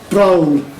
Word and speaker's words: browl: Browl, to rhyme with growl, is explained in both